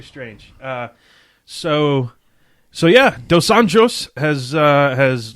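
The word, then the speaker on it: dos Anjos: it uh it's weird they pronounce their RS like H's so even though it looks like rafhael it's it's hael but then it's Portuguese instead of Spanish so it's dos anos yeah so they go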